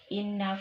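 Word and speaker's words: إنّ: Inna itu dibaca dengung, Nak, ya. Innalladzi, agak dilambatkan membacanya. Ya, cara membacanya agak didengungkan.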